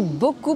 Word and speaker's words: beaucoup: Attention à bien prononcer le « ou » de « beaucoup ». Beaucoup de personnes ont tendance à le prononcer comme un « u », ce qui change un petit peu le sens.